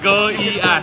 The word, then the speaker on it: Goiás: Make sure that Yes, you Goiás. pronounce it nice and right.